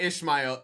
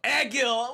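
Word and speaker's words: Egil: his name wrong right it's not ishmael eggil what the [ __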